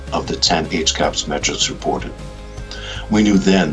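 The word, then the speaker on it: HCAHPS: It began in October of 2018 when VA first reported its hospital CAPS, or pronounced HCAPS, data on CMS Care Compare, but the comparison was not very favorable.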